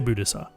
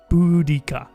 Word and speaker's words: Boudica: Don't say Boudissa. Boudica.